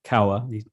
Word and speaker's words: Kawa: And an individual, James Kawa, pronounced Kawa, the way you remember it's Cowabunga, which in the dictionary is delight or satisfaction, is to express delight.